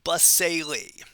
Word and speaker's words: basale: we call the stratum basale the word stratum means layer basale at the base check out the weird pronunciation basely then we have a